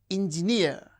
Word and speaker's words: engineer: And these words, mountaineer, engineer. So words that end with the suffix near receives stress on the suffix itself.